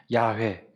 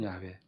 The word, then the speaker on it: 야훼: 그래서 여호와 혹은, 저거는 이제 우리말 번역으로 여호와라고 했고, 혹은 야훼, 여호와 혹은 야훼. 실제 히브리어로는 이렇게 되어 있어요. 보여주실래요? 이게 신명사문자라고 하는데, 이것이 모음을 어떻게 찍느냐에 따라 여호와 혹은 야훼 두 가지로 발음되어진다는 거예요.